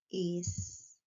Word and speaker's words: extrato: Extrato. O X na palavra extrato tem um som de S.